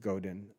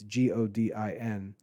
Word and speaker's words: Godin: Seth Godin, I think his last name is pronounced Godin. It's Godin.